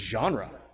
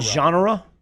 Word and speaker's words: genre: I think it's just genre. Isn't it genre? Yeah, it's a syllable in there.